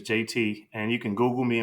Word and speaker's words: Jaeti: to find me is just Google JT and it's spelled j a e TI that's J AE TI my name is JT and you can Google